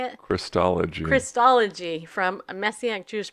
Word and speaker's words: Christology: or christ theology how do you say it Christology Christology from a messianic jews perspective I cannot